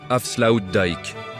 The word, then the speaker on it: Afsluitdijk: Son nom, c'est l'avslu dick, prononcé Afsloud Dik.